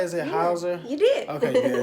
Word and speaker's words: Hauser: Is it Hauser? You did. Okay, good. I just want to make sure. But my last name is Hauser.